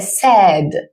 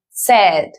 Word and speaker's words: said: Entonces, eso en inglés, en el pasado directamente se dice said, como cuando tienes set, así lo vas a pronunciar, said.